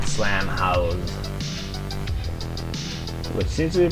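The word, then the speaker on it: Slam Haus: But it's spelled H-A-U-S, like the German way. Slam House.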